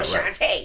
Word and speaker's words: Shantae: I always said my name, because it's just because Shantae rhymes with so many things. Day, play, say, babe. So Shantae.